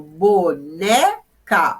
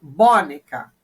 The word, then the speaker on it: boneca: ensino sempre meus alunos quando tornar claro vamos pôr a tônica cada hora de uma sílaba para ver a sílaba tônica eu falo boneca não eu não falo boneca se eu falasse a sílaba tônica seria um bom eu falo boneca boneca óleo mais forte é o né ou eu falo